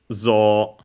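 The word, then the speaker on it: ぞう: the zo we have for example zo zo high low and long because yes even though it's written as z Uh the rule is that when uh e a u follows uh uh a syllable with o, it actually uh u show it actually signals uh a longer o.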